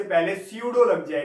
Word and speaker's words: pseudo: Similarly अगर किसी meaningful word से पहले स्यूडो लग जाए, पी साइलेंट होगा, PSEUDO स्यूडो, तो उसका मतलब होता है फॉल्स।